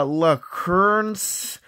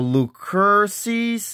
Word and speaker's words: Lucerne: La Lucerne's? Lucerne's? Lucerne? It is pronounced the Lucerne Inn. The Lucerne's Inn?